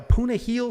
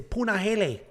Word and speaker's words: Punahele: island we have a punahil soriano taking on dolce lungamboola and i'm positive i'm pronouncing punahil's name wrong because i had all sorts of comments with it's punahele i'm not doing it